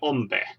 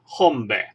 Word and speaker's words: hombre: You just say el deser hombre. And you remember, in H here, the H is silent. So not hombre, it's hombre.